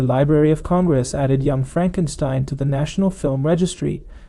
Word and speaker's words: Frankenstein: And remember, it's pronounced Frankenstein.